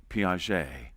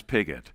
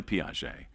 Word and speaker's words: Piaget: And we came across a Frenchman named Piaget. Now, at the University of Nebraska, our French pronunciation was not very good, and so I referred to him as Pigot.